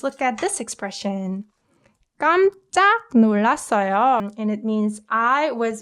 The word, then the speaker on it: 놀랐어요: And the way I pronounced it was 깜짝 놀랐어요. 깜짝 놀랐어요. 윽느 combined softens 윽 to 응 sound, right?